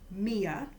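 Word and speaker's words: μία: one in the nominative Mia is how you say it in the feminine in the nominative and hen is how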